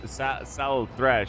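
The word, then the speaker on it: Slaanesh: Plus they're Drakari or whatever they're called, or they align themselves with Slanesh, I think, or Sal Thresh. That's how they say it in this game.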